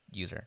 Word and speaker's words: usr: It is technically USR. It stands for Unix System Resources, not user, as in your user files don't go in here. It doesn't stand for user, but I do pronounce it that way because, I mean, really, it's user.